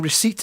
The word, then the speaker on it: receipt: I'm kind of, in my head, I'm now saying receipt again. But For many years, I would always pronounce the P because Ricky Fulton did it, and I thought it was funny.